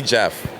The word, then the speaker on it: Geoff: dinner reservations like any I just don't bother correcting them I just let a j EF I just let it be Jeff with a J it's such it's such